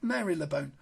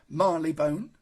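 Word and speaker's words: Marylebone: Regents Park and mayor Mary lebone there we go you see I said Mary lebone Marley bone and also designed the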